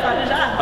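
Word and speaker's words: pas de chat: Pas de ja? Is that how you pronounce it? Pas de ja? Yeah, pas de ja.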